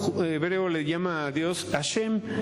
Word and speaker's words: Hashem: le llama a Dios hashem no con j con h muda A hashem o hashem pero que no se escuche como J porque entonces ya sería